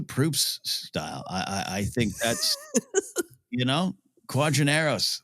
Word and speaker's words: Quadinaros: Consistently, wherever the name of this podracer is written down, it is QUADINAROS.